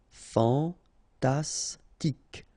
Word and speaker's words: fantastique: Okay, Q-U-E at the end, K. Okay, tic. Fantastique.